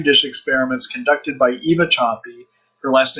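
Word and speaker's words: Sapi: So for instance, according to Petri dish experiments conducted by Eva Choppy, her last name is spelled S-A-P-I, you can just look up Eva Choppy and biofilms, and you'll find some of her research.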